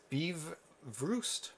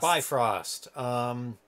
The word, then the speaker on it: Bifröst: to look for it Eve roost B roost I can remember the pronunciation by frost really good easy to